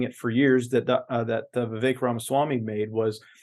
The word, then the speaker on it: Vivek: it for years, that Vivek Ramaswamy made was, say his name again for me. I can never. Vivek like cake. It's just like cake. It's just like cake. Yeah. Vivek.